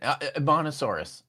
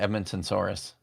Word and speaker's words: Edmontosaurus: Oh, that one, Edmontosaurus. Yeah, I always just see because I always just thought pronounced it Edmontonsaurus. But it's not though. There's no N at the end of it.